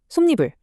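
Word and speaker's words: 솜이불: 솜 더하기 이불은 솜니불, 한 더하기 여름은 한여름이 되죠.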